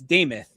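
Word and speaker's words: Demuth: Lisa Lisa Deth deth, it's Damoth is how it's pronounced.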